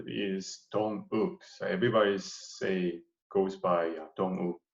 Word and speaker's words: Dong Wook: No, actually my full name is Dong Wook.